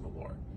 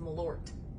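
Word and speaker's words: Malört: this to you on camera but it's actually pronounced melor the t is silent so no no no it's actually it's a hard teeth malort a lord okay i stand corrected well i'm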